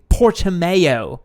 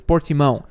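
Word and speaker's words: Portimão: i speak portuguese guys that's not how you pronounce the word it's portimo it's how it would normally be pronounced but nobody can say that so they say portamayo um really cool circuit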